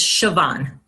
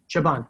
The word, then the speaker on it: Siobhan: It is Siobhan. Siobhan, thank you.